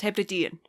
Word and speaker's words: Hebridean: The Hebridean Baker? Is that what it is? The Hebridean? Or is it pronounced something else? Very close, Hebridean.